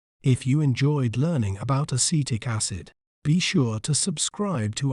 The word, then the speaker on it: acetic acid: We may pronounce it as acetic acid. Acetic acid. C-tic. Acid.